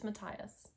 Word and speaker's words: Matthias: i'm still not over matthias matthias mattias it's mattias are you trying to remember how they pronounce it on the show okay anyway i'm still